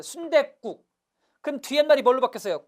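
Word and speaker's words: 순댓국: 실제 발음해보세요. 순대국.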